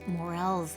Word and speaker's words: morel: And then along with this season of rains comes morel's season. And it's spelled like morals, but you say morel.